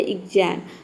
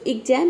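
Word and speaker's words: exam: देखिए यहां पे है एग्जाम तो एग्जाम में देख सकते हैं कि यहां पे आधा ग और ज का साउंड आया है ठीक है तो इसलिए यहां पे और आधा ग और ज साउंड के बाद क्या आया है ए लेटर आया है मतलब कि वावल आया है इसलिए यहां पे आधा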